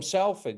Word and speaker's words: Salford: We we call them Sulford. You don't call him sulfur, do it's pronounced sulfur.